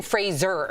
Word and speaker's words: Fraser: So it's Brendan Fraser. Yeah. Like Razor.